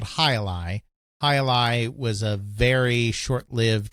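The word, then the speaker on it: Jai-Alai: it's J AI hyphen a AI but it's pronounced highi so they added the squash game as hii releases the tar Alpha and released it for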